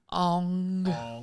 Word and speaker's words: Aang: Ong. Ong. Ong. So I've never watched the anime or read it. Oh, Like, Oh, That's understandable. that's understandable. It's Aang.